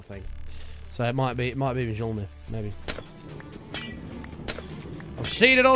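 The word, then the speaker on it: Mjölnir: So it might be Mjolnir, maybe. I've seen it on a Fruit Machine. That's the only way I'd know that. Oh, it's Jonathan. Oh, interesting. Interesting. Don't pronounce the J.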